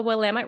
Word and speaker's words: Willamette: In Oregon are like, it's Willamette, damn it. Yeah. If you remember the damn it, you're okay. Yeah, you got it. Right. So in Oregon, the Willamette River.